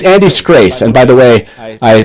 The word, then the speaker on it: Scrase: Everyone at the top of your screen, if you don't know, it's Andy Scrace. And by the way, I pronounced that last name correctly this time.